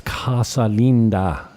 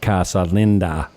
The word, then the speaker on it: Casa Linda: It's Casa Linda, not Casa Linda.